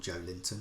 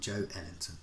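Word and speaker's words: Joelinton: He's not called Joe Linton, he's called Joe Ellington.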